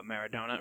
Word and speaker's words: Maradona: died this past week bob gibson diego uh maradona right is how you say it yeah okay